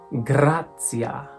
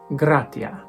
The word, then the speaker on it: gratia: ecclesiastical is pronounced grazia grazia sounds a lot like Italian ecclesiastical grazia classical gratia this is called ecclesiastical